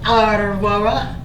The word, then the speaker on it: Aurora: And my name is Aurora, not Aurora. Aurora. Not quite there. A-U-Ro-Ra. Aurora. Oh my goodness.